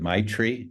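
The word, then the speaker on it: maitri: I pronounce it correctly it's a Tibetan word but I pronounce it MIT tree M AI t r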